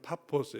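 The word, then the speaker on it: Πάφος: 지나서 6절 바보에 이르니 바보가 바보라는 뜻이 아니라 어 그리스 파포스 이렇게 피어로 발음하는데 바보는이 사이프의 지금도 수도고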